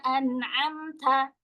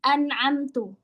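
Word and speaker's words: أَنْعَمْتَ: Yang paling terakhir di sini ituathalladzina an'amta. Kata anamta diganti menjadi an'amtu yang harusnya ee telah engkau malah telah saya.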